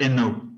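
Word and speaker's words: Hainaut: it just sounds like Ino it's you don't pronounce the h at the beginning and not you don't pronounce the T at the end end it's the French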